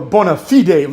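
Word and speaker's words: bona fide: Cena are like two Bonafide Legends or bonafed Legends if you say it correctly right now with all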